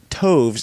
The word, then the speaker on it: toves: as in arrived and Toves is pronounced as to rhyme with groves again the first Oh